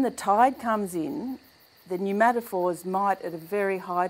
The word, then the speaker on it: pneumatophores: the new matap fors okay pneumatophores um spelled with a p like pneumonia to do with air